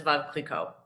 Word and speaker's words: Veuve Clicquot: So it's French and it should be pronounced as Veuve Clicquot.